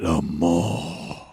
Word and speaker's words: Le Mans: But I was watching the 24 hours well, if you're doing the proper French way, you have to say it like you're dying. So it's like 24 hours Le Mans. You have to draw out the ma.